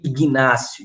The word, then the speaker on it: Inácio: padre inácio de loyola a gente sabe o g é mudo né a gente não lê ignacio de olhar oi lê e na na prova porque que escreve ignacio pois é deixa lá no